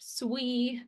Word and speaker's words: SWE: And then we have all of our software engineers often abbreviated as SWE pronounced SUI but you'll also see ENGE or devs all the developers.